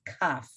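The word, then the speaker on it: כף: on page 42 right k a f cuff regular k sound and again there are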